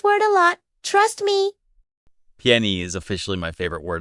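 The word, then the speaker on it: 便宜: Piany. This sounds kind of like pián. Yep. And it means cheap. You're going to use this word a lot. Trust me. Piany is officially my favorite word of the day.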